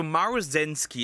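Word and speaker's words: Maruzensky: Okay, so Maru Zenski is how you pronounce her name cuz I struggled when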